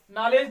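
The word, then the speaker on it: knowledge: जैसे देखो नॉलेज, नॉलेज जानते हो, देखो के आया है, एन ओ डब्ल्यू एल ई डी जी, देखो तो के को नहीं पढ़ा जाएगा, यहाँ से पढ़ा जाएगा। ठीक है, नॉलेज, नॉलेज माने क्या होता है, ज्ञान।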